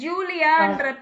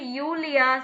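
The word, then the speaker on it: Julia: இப்போ ஜூலியான்ற பேர் இருக்கு இல்லைங்களா, ஜூலியா, ஆனா அங்க வந்து யூலியா சொல்லணும். ஜூலியா சொல்லக்கூடாது, யூலியா. புரியுதா?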